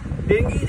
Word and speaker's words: Dengue: वो जो है डेंगी कहते हैं, डेंगी एक्चुअली है, यहाँ पे लोग डेंगू बोलते हैं पर प्रोनाउंसिएशन डेंगी है।